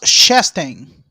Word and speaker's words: Chastain: Aí está o nosso querido, o Ross, como é que é o nome da pronúncia? Ross Chastain.